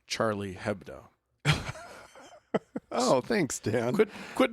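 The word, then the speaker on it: Charlie Hebdo: Charlie ABDO is that I think it's pronounced Charlie hebo oh thanks Dan quit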